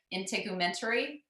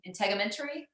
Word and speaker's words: integumentary: dietary supplement how do you say that Erin integumentary in integumentary okay um anyway so frankincense I once heard